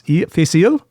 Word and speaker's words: Fèis Ìle: I was living in London at the time and I attended that year's annual correct my pronunciation face. Facial.